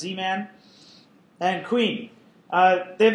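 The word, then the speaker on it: Z-Man: vaults file soia uh I zedman but I guess they pronounced zman and queen uh they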